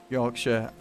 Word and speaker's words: Yorkshire: I am about here Yorkshire or York Shire as the Americans say there we go I